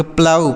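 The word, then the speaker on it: plough: जीी एच को आऊ पढ़ेंगे तो इसे पढ़ेंगे प्लाऊ पी एल ओ यू जी एच इसे प्लफी है प्लाऊ मतलब होता है जोतना क्या होता है जोतना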